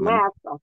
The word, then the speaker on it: Manasseh: Manasseh. Is that how you say it? Manasseh.